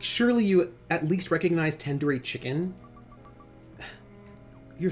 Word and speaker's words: tandoori: you at least recognize tandoori chicken you're saying it wrong wait really tandoori tandoori the dude isn't like door it's like doodoo head mm-hmm wait what no